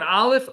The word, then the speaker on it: Aleph: Aleph. Aleph is silent, and it just follows whatever sound the vowel underneath puts in it.